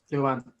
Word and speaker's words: Luanne: Okay, right, we're moving on to the next one, which is Luanne. Is that how you say it? Is it? Yep, Luanne.